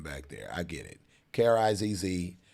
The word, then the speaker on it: Krizz: We learn Z's make the Zzz, but mine is Krizz. Like there's a producer named Swiss Beats, and it's S-W-I-Z-Z, but it's pronounced Swiss. That's me too. My name is pronounced Krizz, just in case, because